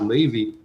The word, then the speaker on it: Levi: blame anybody for it it's spelled l-e-v-i it's sound you know it uh it's just pronounced levy yeah it took me